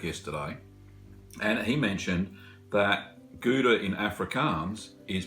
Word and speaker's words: Gouda: mine at work yesterday and he mentioned that guda in Africans is pronounced Huda so Hoda maybe that's because African's language stems